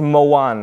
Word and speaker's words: Mawaan: It's Mawaan, okay? Please remember, don't mispronounce it.